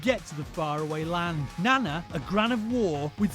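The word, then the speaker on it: なな: lady holding two maces the Japanese for seven is Nana Nana sounds like the word Nana another word for Grandma this is Nana she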